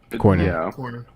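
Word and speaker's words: Cornyn: you want to keep Cornin in Cronin Cornin I always mispronounce his name is it Cornin Cornin okay Mr.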